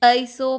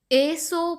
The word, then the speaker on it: एसो: आता है एसो पंच यहां पर बहुत जन गलती करते हैं और यह बोलते हैं एसो पंच ऐसो पंच ऐसा कुछ यहां पर हमें इसको ए उ उच्चारण करना है ए फॉर एप्पल एसो पंच नमु कारो और